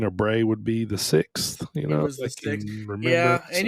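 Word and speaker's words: Sicks: The Wyatt 6 but it's spelled s i c KS but it's supposed to be like six the number six now you know um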